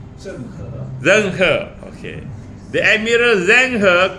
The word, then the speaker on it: Zheng He: How you mention, how you pronounce his name? Zheng He.